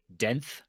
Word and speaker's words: Denth: It's I'm pretty sure it's Denth, like 10th, but with a D.